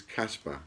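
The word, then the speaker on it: Kaspa: So the voucher code is Casper, and it's capital letters, and that's K-A-S-P-A, Casper. It's not with a C like the ghost, it's Casper with a K.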